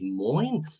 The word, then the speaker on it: moin: Is that how you pronounce it? And why is this the greeting in Bremen? Is it dialect for Morgan? Yeah, your pronunciation was right. We say moin, and the origin of